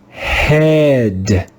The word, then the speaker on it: head: Here, the digraph EA makes the sound eh, eh. Let's read this word together. Head, head, head.